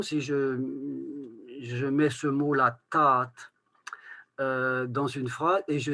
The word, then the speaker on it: tad: dit ta'adik, ta'adou, ta'adou, on écrit T-A-D, eh bien, ce D final va se prononcer T parce qu'il n'y a rien derrière, parce que c'est en finale absolue.